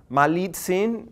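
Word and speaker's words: Malintzin: Dona marina in part because the Spanish couldn't pronounce my lead scene so they decided it sounds like maligne choice so we're gonna keep it there but then notice another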